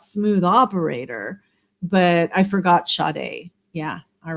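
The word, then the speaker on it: Sade: and and did Ena do Smooth Operator sh shade yeah yeah yeah spelled it's spelled without the H but it's pronounced with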